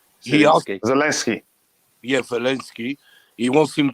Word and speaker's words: Zelensky: the president of Ukraine, Leginsky, I can't say his name. He asked, Zelensky.